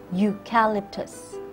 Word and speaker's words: eucalyptus: difficult word for you it is eucalyptus its kind of tree found in certain countries like Australia eucalyptus the word is eucalyptus so you use a